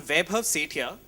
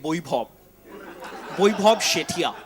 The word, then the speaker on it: Vaibhav Sethia: I'm Vaibhav Sethia and they're like Vaibhav Sethia. Vaibhav. Like if you say it too many times, it comes down to bhaw.